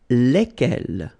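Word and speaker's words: lesquels: give you the pronunciation leg L alright so final s is not pronounced so here when you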